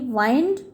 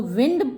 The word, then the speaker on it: wind: ही वाउंड the engine, उसने WIND, वाइंड, अगर आप उसको विंड प्रोनाउंस करेंगे तो हवा हो जाएगा, विंड का मतलब। और WIND, वाइंड, जब उसको प्रोनाउंस करेंगे तो वो हो जाएगा चाबी भरना, और उसकी सेकंड फॉर्म है वाउंड।